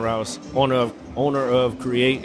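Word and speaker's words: Kreate: owner of owner of create is spelled kc-r-e-a-t the K is silent um I started it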